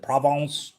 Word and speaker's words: Provence: Is it provence?